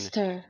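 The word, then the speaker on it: xyster: Let's try to hear the pronunciation. Zister. Oh, okay. Zister?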